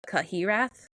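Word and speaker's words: Cyhyraeth: In Wales, it's pronounced the Cahirath.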